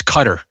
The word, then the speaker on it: Qatar: Uh I thought it wasQatar and apparently it's cutter.